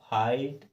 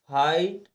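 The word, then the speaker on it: fight: ये नियम है कि अगर आई के बाद जी एच टी आए तो हम जी एच को साइलेंट करके और सीधा टी को पढ़ लेते हैं और आई को ज काते आई ही पढ़ते हैं जैसे कि देखिए फाइट आइट फाइट यानी आई हमें सुनाई दे रहा है कि नहीं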